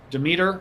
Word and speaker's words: Demeter: Don Demeter, I believe, is how you pronounce it, center fielder.